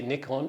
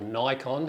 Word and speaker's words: Nikon: so good to see nikon or nikon however you like to pronounce it have finally released